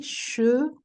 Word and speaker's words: chevaux: And des chevaux. O. We need the sound O, otherwise, what I'm going to understand is cheveux.